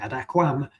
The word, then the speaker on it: aquam: You have to say aquam. Um, it's easy enough to omit because in pronunciation that M is is almost silent. Um, possibly entirely silent.